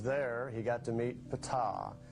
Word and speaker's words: Ptah: While he was there, he got to meet Ptah. That's pronounced Ptah.